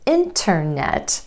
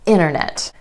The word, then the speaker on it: internet: Vanishing T after the N sound in words like internet. So instead of internet, you'll hear a native speaker say internet.